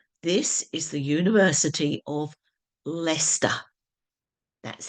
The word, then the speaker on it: Leicester: is pronounced Lincolnshire this is the University of leester that's how it's pronounced and the county is lestershire so there